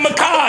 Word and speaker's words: Mackage: And what's the other one that's not a Mackage? You stupid. Oh, that's what you was saying. I got one of them. I was pronouncing. It's in Macaj, I say mackage.